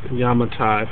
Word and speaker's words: Yamatai: is actually the map of the island of yamatai and it is pronounced yamatai for those who don't know um so very